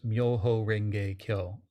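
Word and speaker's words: 妙法蓮華経: In Japan, these characters are pronounced Myoho Renge Kyo.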